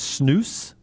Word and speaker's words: snus: the nicotine craving disappears chris says it's pronounced snooze all right that's the way they say it over there you know i think